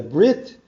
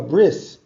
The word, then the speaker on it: brit: the Covenant of circumcision if your dialect is Sephardic Hebrew you pronounce it as a Brit if you're ashkenazic Hebrew you say I'm going to a bris but it's exactly the same Affair bris or Brit doesn't make a difference so what's up with